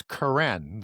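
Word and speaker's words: keren: And horn is Karen, the K sound versus the soft C sound in the transliteration.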